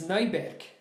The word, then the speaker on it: Neuberg: in 2005 by Brad Neuberg. Sorry, this is the German. No, how do you say it in English? How would you pronounce it in American? Brad Neuberg? Yeah, of course. No, it's Neuberg.